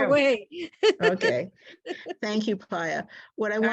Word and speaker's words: Pia: Pia, where do you live in Texas? I'm in Houston, and it's pronounced Pia. Pia is my Hebrew name.